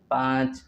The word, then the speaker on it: پانچ: وبعد ذلك چار چار چار، وبعد ذلك پانچ پانچ پانچ، ونطقه با الف نون ساکن پانچ وچے ساکن أيضا پانچ.